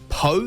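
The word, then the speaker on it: Pau: rugby after fulfilling his obligations with French Club PO is how he pronounced it po po you say po I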